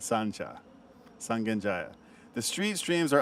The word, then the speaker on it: Sancha: You gotta know, Sangenjai is Sancha. You gotta say Sancha. That's how you say it. That's how the locals say it. Sancha.